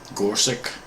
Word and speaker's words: Gorsuch: How do you pronounce that name? Gorsuch.